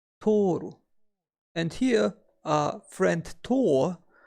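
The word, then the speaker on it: 取る: To take or to pick up is pronounced as toru.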